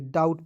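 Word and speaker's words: doubt: जाएगा उसके बाद देखिए डी ओ यू बीटी डाउट नहीं पढ़ेंगे डाउट पढ़ा जाएगा देखिए डी का ड लिख दीजिएगा ओ यू ठीक है तो ई ओ यू साथ में है इसका उच्चारण आ के रूप में कीजिए बी और टी का ट लिख दीजिएगा ठीक है डाउट हो जाएगा अब कहिए सर डी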